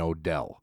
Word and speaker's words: Odell: There is no apostrophe in Odell. I'm making one. That's the thing, that you can't put an apostrophe where there is no apostrophe. But it's sounded out. O-Del. It's syllables.